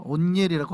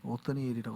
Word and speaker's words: 옷니엘: 어쨌든 잠깐 말은 옆으로 샜는데, 우리가 뭐라고 발음해도 상관없습니다. 온니엘이라고 하든 오트니엘이라고 하시든 아니면은 오트니엘이나 오드니엘이나 뭐라고 하셔도 상관은 없습니다.